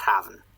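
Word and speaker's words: hræfn: The F is pronounced like a V.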